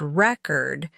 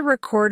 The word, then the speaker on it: record: For example, stressing the wrong syllable in the word record can make you sound non-native. I'm going to record a video versus I have a record collection. Stress also helps with clarity.